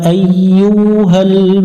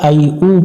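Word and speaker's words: أيها: ওয়ামতাজুল, ইয়াউ, মুখ গোল করে নেব, ইয়াউমা, ওয়ামতাজুল ইয়াউমা, আই ইউ, এখানে অনেকজনে ভুল করে আই উ পড়ে, ইয়া পেশ ইউ পড়বো, আই ইউ হাল মুজে, এখানে জিমের উপরে সুকুন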